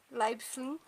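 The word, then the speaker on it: Leiblfing: Na cidade de Leibfling. É pra ser assim a pronúncia, eu pesquisei no Google, é pra ser assim.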